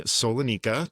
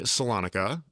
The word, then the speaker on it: Solonika: Uh, today I am joined by athlete Solana. Did I pronounce that right? Nope. Salonica.